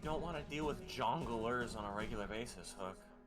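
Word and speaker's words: jongleur: You don't want to deal with jonglers on a regular basis, Hook. I'm pretty sure it's actually pronounced jonglier.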